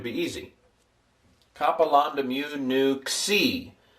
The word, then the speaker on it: nu: So it'll stick lamb mu new looks like that and it's transliterated like that and pronounced n as in number.